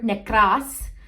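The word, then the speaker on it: νεκρός: necros necros all right a little bit of roll in the r's there necros let's go click on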